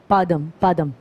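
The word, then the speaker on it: Padang Padang: when i got here i thought padang was padang as padam padang the balinese wave it's not like that it's actually padam padam i never had that pronunciation is kind of weird but uh it comes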